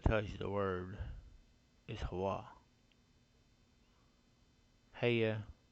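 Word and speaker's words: hayah: you the word is Hawaii hey yeah it's how it's spelled h-a-y-a-h y mix W sound in Hebrew so it's Hawa never has changed but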